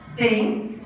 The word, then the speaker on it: thing: You absolutely must stick out your tongue. Not very elegant, but you must say it correctly. So, thing.